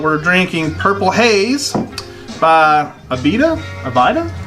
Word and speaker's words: Abita: drinking Purple Haze by Abita providin how do you say that I say it beat it I'll say that betta - the first time